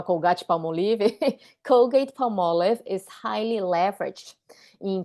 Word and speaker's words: Colgate-Palmolive: Aliás, você sabia que se pronuncia dessa forma, Colgate-Palmolive?